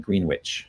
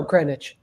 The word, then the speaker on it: Greenwich: of November 1978 in Greenwich uh Connecticut or do they do they call it green witch no Greenwich it's they still call it Grech here where I grew up